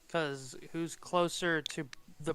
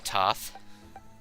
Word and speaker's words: Thoth: Oh yeah, Toth. Oh, is it Thoth? I thought it was I think it's Thoth. Toth. I don't think the H is pronounced.